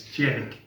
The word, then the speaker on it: Tjerk: It's Tjerk. Jerk and not jerk.